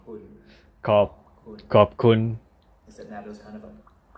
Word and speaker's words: ขอบคุณ: ขอบคุณ Instead now there's kind of a khop. ขอบคุณขอบคุณครับ ขอบคุณครับ or ขอบคุณครับというけど発音がちょっと Okay.